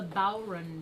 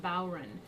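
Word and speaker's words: bodhrán: a special name doesn't it it's called a bow run drama it's not pronounced bowron and it's a frame drum which means it's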